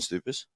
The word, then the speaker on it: Stoupas: And Actually, can you pronounce your name, because Will just butchered it? Stoupas.